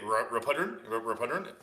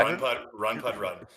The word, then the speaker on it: Run Pud Run: It's Rapudron? It's Run Pud. Yeah, people say Rapudron. Okay. Run Pud Run.